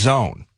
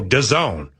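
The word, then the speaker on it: DAWN: Uh, and it's Well, I guess according to the press release, uh, you pronounce it Don. Oh, Don.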